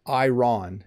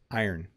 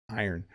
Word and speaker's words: iron: It's not iron, it's iron, iron. There are a couple of different pronunciations I think, but in my part of the world we say iron.